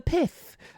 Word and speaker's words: PIF: The PIF, you have to pronounce it like that.